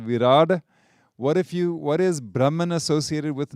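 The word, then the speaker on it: Virāṭ: it has another name, which is Virad. You may have heard that. It's spelled V-I-R-A-T, and the T has a little dot underneath if you want to be really particular about it.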